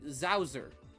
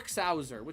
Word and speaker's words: Xowser: Not with a Z, with an X. It's an X that's pronounced like a Z. Zowser. Or Xowser, however you want to pronounce it.